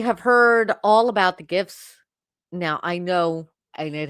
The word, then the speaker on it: GIF: Graphics is a hard G, my friends. So, I don't really care if it's an acronym and it's a hard G in the acronym. It's a GIF.